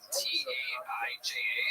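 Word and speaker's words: Taija: T-A-I-J-A.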